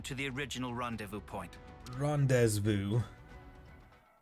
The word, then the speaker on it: rendezvous: Rendezvous. I am French. Who pronounces Z's in French? No one.